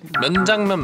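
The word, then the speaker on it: 명장면: Myeongjangmyen Not Myenjangmyen Yugyeom: I have!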